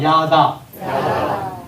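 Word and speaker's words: ידע: 이거 야다라고 읽습니다. 한번 따라서 읽어보세요. 야다. 야다.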